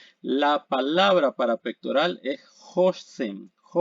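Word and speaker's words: השם: Se pronuncia Hoshem y aquí tenemos la palabra, es la Mem,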